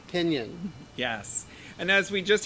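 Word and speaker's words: piñon: just so you know pinyon is spelled p i n with the little enyay i think it is a little swirly girl on top o n p-i-n-o-n pinion yes and as we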